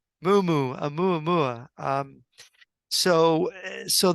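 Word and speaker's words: muumuu: Mumu. Mumu.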